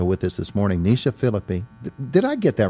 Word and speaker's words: Phillipe: wasn't really I see I always mess up an end don't I don't pronounce the e at the end of it yeah I